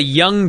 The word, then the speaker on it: Jung: So, for those of you that didn't watch originally, they're the Young Dragons, except it's spelled J-U-N-G, because it's WCW, you know, just weird.